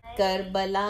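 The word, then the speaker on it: کربلا: बसाने बसाने के लिए कर्बला में इस में जो नून है ना एन जो है ना वो काइंड ऑफ साइलेंट है आपको इसको न नहीं बोलना है you just give a nasal sound कर्बला में कर्बला में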